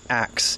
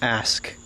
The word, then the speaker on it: ask: that comes to mind the word it's not ax it's never been ax it's always been ask or asked but it's too hard